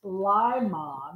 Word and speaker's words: Limon: He actually, because I said Limon, he put in parentheses before I got to read it, pronounced Limon.